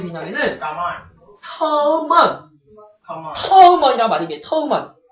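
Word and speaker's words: 土門: 터먼. 터먼. 발음이 뭐랑 비슷해요? 토문? 두만강이요. 그래서 우리나라 때는 이걸 토문이다. 근데 터먼 발음이 중국의 두만이 똑같거든.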